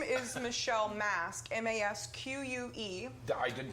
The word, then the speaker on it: Masque: name is Michelle Masque, M-A-S-Q-U-E. I didn't pronounce that right the first time? It doesn't matter. It's like short for masquerade when you think about it.